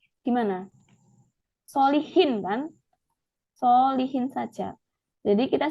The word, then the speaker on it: Solichin: Nah, ini kan cara bacanya gimana? Solihin kan?